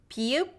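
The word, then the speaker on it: ㅂ: Why does it sound like P? Because it's not as vibrating as English b sound. It's lighter, but it's not p. It might sound like in between. P. It's still soft. P. That p. So there is air, and that is why it's hard to distinguish that.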